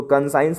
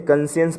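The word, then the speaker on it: conscience: साइंस के आगे आप कन लगा दीजिए, उसको कंसाइंस नहीं पढ़ते, कंसियंस पढ़ते, जिसका मन मतलब होता है अंतर्मन।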